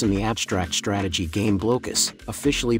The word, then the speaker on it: Blokus: Players in the abstract strategy game Blokus, officially pronounced Blokus, attempt to place colored, transparent Tetris-shaped pieces onto the board.